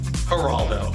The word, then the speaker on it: Geraldo: you are Geraldo Rivera haraldo but it's got a g pronounce it with a h it's the waste of a g if you had a